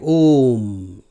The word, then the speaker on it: Om: When one repeats this mantra, one needs to pronounce the O short and the M long. Generally, the O is having double beats and M half beat.